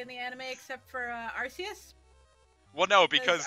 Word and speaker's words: Arceus: Arceus well no because he very specifically said it was supposed to be Arceus but if they changed it to Arceus because they didn't want european kids to laugh at this arse in the name now little to Tom